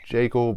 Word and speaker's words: Jekyll: another video I said I believe the correct pronunciation is Jayco but that'll just cause a lot of uh confusion if I keep saying that in the video I think so it's going to go with the conventional pronunciation Jekyll so I've read all